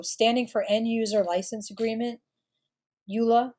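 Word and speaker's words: EULA: for enduser license agreement Ula that's the way I pronounce it is the license between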